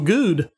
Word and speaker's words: Goode: And it is Goode. It rhymes with food, not wood.